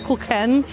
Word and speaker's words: Zwiebelkuchen: Zwiebelkuchen. I asked the cast member there how to pronounce it because I really didn't want to be wrong. I think I said Kuchen before and it's Kuchen.